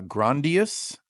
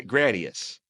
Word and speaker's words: Gradius: Is it Is it Gra Gradia or or Gra Gradius? Gradius. Okay. Gradius. Sorry. Keep going. Um, Gradius. Yeah, you're right. I spelled this wrong in my notes. I put an N in there. All right. So, I was pronouncing it incorrectly.